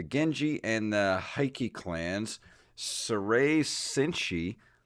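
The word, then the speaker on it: Seirei Senshi Spriggan: of Valkyrie, the Genji and the Heike clans, Sarai Senshi, How do you say that? Sarai Senshi. Sairi Senshi Spriggan. Yes, Sari Senshi Spriggan and Spriggan Mark II.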